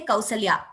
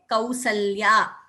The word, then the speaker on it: Kausalya: So when we pronounce that word, automatically we are saying Dvitvam, Kausalya. We don't say Kausalya. I have never heard anyone say Kausalya. Even without our knowledge, we say Kausalya.